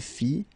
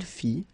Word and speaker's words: fit: Il fit, elle fit, final T not pronounced.